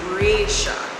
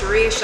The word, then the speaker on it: Reisha: myself my name is resha so if you can pronounce reisha always tell him always tell people it's the continent asia you put the r in front of it all right now i